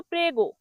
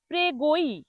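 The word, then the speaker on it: prego: অনেকে এটাকে ভুল করে উচ্চারণ করে। প্রেগই প্রেগই। মনে রাখবেন এটি কিন্তু প্রেগই হবে না। হবে প্রেগো। পি আরইজিও প্রেগো।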